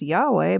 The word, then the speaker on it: Yahweh: And I'm guessing Jesus probably thinks, it's technically pronounced Yahweh, but whatever.